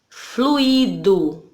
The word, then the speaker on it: fluido: Percebam que eu não falei fluido. Fluido. A palavra é fluido, ok?